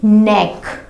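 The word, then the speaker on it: neck: नेक क्यों? क्योंकि के बाद एन आ रहा है और उसके बाद वॉवल आ रहा है, AEIOU में से एक लेटर आ रहा है, तो यहाँ पे के साइलेंट हो गया, इसको हम रीड नहीं करेंगे। नेक।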